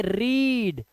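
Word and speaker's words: read: बट पढ़ते अलग है फर्स्ट टम होती है रीड सेकंड होती है रेड जो लाल रंग होता है ना जिसको आप रेड बोलते हो इसको भी वही बोलते हैं बट स्पेलिंग में डिफरेंस है तो हैड यू रेड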